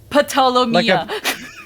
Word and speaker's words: Ptolomea: I know Ptolomea, the P is silent. Ptolomea. Like a pterodactyl.